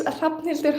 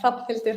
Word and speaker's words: Hrafnhildur: Everybody gets it wrong, but yeah, Hrafnhildur. How do you say that again? Can you say Can you slow down in pronouncing it? Oh, of course. Hrafnhildur. So, it's silent H, Hrafnhildur.